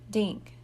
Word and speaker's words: Dink: nodded at the boy dink Sammy repeated that rhymes with thank and pink and stink making Rhymes helps Sammy